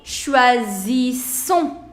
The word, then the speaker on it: choisissons: Now take care of the pronunciation. This is single S, so the pronunciation is going to be z. And this is double S, so the pronunciation is going to be s. So choisissons, zissons. So first is z and then is s.